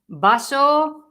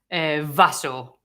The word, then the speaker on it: vaso: B and V in the standard Spanish everywhere should be virtually the same pronunciation, which is B sound, so as a B.